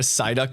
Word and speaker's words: Psyduck: more Sparkles the better why can't you hear a Psyduck in the restroom because the p is silent oh God I love